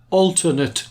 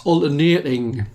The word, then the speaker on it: alternating: Now, when students get the name wrong, what they do is they call it alternate current. That's wrong. It's alternating.